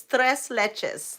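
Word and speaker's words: tres leches: how to pronounce it it's thress Leches thress leches cake and it's so good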